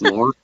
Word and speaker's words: Moran: I was in Ireland a couple years ago researching the family name, Moran, and it's pronounced more.